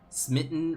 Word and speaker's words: Smitten: Smitten rhymes with mitten.